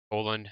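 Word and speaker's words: Haaland: Holland, I think it's Holland. How I think it was told to me pronounced.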